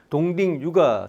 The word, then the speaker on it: 동딩유: 중국 발음으로는 동딩유가 되겠죠.이 이 사람은 스탠포드에서 엔지니어링으로 박사기를 받았고요.